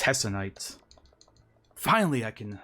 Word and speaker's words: Hessonite: Now, if you did not catch her name, Hessonite? it's Hessonite.